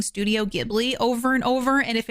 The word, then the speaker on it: Ghibli: A Studio Ghibli movie has been on my list to watch for Katie Hasn't Seen That since I started this podcast.